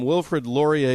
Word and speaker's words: Wilfrid Laurier: So researchers from Wilfrid Laurier University, oh yeah, I pronounced that right.